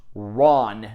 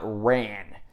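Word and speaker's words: 乱: of the film is pronounced Ron not ran because it's a Japanese word it's Japanese word that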